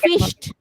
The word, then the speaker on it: fished: সো এটার উচ্চারণ, ইডিটার উচ্চারণ হয়ে যাচ্ছে টি এর মতো, টি এর মতো। ফিশড।